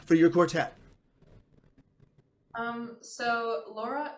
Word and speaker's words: Lora: name for your quartet Laura is a Spanish translation of the word parrot obviously we americanize the pronunciation of it um but there's actually